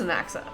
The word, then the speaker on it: Anaxa: Finally, we know how to pronounce this. So, it is Anaxa.